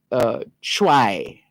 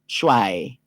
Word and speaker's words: Twi: It's spelled T-W-I, and the pronunciation guide suggests calling it Chwai, C-H-W-A-Y, Chwai, T-W-I.